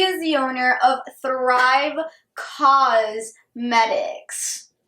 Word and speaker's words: Causemetics: the owner of thrive cause medics not cosmetics as in Co us but cosmetics as in ca us e as in she's fighting for a cause I got to really